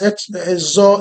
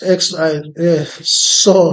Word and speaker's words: XOR: So actually, don't mind how I'm pronouncing this as XOR. So the correct thing is XOR. So it's like an opposite of OR.